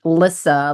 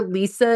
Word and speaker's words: Lyssa: My name's pronounced Lyssa, like Alyssa, but Oh, without the A, just so that if people aren't confused by who I am.